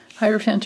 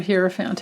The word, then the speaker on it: hierophant: and then we have the hierophant hierophant or here found however you guys like to pronounce it um i tend to i tend to think it's part of like the hierarchy type of a thing so i that's why i go with hierophant but you can pronounce it any way you like so with the ten